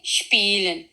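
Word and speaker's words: spielen: ये आवाज देगा शिप की, हमेशा इसकी आवाज आएगी शिप, जैसा कि स्पीलन।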